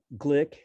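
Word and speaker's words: Gleick: impossible in addition uh glick as he pronounces his name in 1987 pointed out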